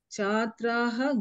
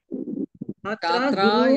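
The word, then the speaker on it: छात्रा: Chhatraha gurun pruchati. No, here chatra is strilinga ekavachanam. Chatra is don't pronounce visarga here. If you pronounce visarga, it will become bahuvachanam.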